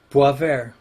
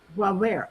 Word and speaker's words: Boisvert: Boy, how do you say it? Boisvert. Boisvert. Ah, French, huh? Boisvert.